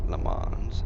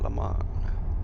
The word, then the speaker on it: Le Mans: It's not pronounced Le Mans, it's pronounced Le Mans. You don't pronounce the S.